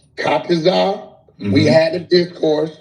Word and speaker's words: Tazaryach: I might say his name wrong, but he knows who I'm talking to. Tazaryach. Right. You said it right. Tazaryach.